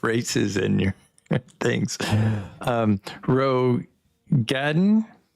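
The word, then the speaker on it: Roegadyn: entire sex of races in your things um Ro Gaden how do how do you say that I'm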